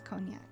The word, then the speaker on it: Cognac: Cognac? I think so. I don't know how to pronounce things properly, but I think that's cognac.